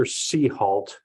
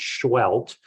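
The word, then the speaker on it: Seheult: This is Dr. Seahalt. It's actually pronounced Schwelt.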